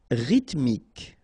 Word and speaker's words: rythmique: Rythmique, remember, Y pronounced like E and then H doesn't exist.